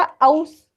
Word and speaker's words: aus: Okay, वो जो AUS है उसका हर एक का प्रोनाउंसिएशन जरूरी है। उस जैसा जर्मन में कहा जाता है, जैसे हम लोग इंग्लिश में ए का उतना प्रोनाउंसिएशन ऐसा नहीं होता है ना, तो इसलिए वो जो एउस है ऐसा नहीं होगा, आउस प्रॉपर, और auf Wiedersehen।